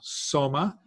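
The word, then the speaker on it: σῶμα: instance the body itself is soma it's an Omega long O soma from which we get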